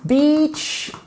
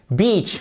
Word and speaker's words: beach: comme en français cependant si vous dites Beach là vous avez le E et le a vous n'avez surtout pas de I qui est prononcé comme un de i écrit mais qui est prononcé comme un il long ok Beach oui parce qu'en